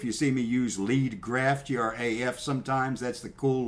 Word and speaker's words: graf: So if you see me use lead graph, G-R-A-F sometimes, that's the cool lingo in the news business.